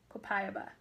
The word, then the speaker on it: copaiba: the spelling is co PA I be a copaiba and I wrote about phonetically so that I wouldn't butcher the name